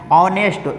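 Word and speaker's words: honest: पर आ जाएगा एन ऑनेस्ट यहां पे याद रखें एच को साइलेंट करके पढ़ा जाता ऑनेस्ट तो यहां पे ओ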